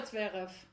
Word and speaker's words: Zverev: Sasha Zverev has crossed the line. And yes, I am actually pronouncing his name the way that it should be pronounced because I am from Germany.